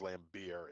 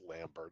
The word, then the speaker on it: Lambert: I'm not buying into his name as being pronounced as Lambert. It's Lambert, all right?